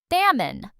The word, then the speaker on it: salmon: This word has a silent L and it's a type of fish. Salmon.